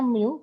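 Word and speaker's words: μ: Jadi gaya gesek sama dengan mu, ini bacanya mu, koefisien gesek ini mu.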